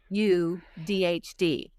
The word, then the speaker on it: AuDHD: autism, and you've probably seen this, and it's pronounced ADHD, Hmm. AUDHD.